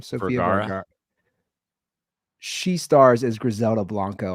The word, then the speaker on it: Sofia Vergara: How do you pronounce her name? Sofia Vergara.